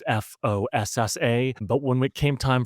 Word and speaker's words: fossa: aware of this, but in the language of Madagascar, it's spelled with only one O, so it's Fossa.